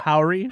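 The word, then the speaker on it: Howery: Lurel Howry.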